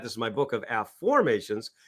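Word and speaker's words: Aformations: So if you can see that this is my book of a formations which is spelled a ff o r m- a t-s a formations not affirmations right like I this is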